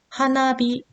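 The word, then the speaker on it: 花火: 있는데요 하나하고 희가 만났어요 두 개 이상의 단어가 합쳐질 때 뒤에 오는 단어가 타그마 되는 경향이 있다 그랬죠 그래서 하나 아니라 하나비가 된 거고요 오른손이라는 뜻의 미기태 오른쪽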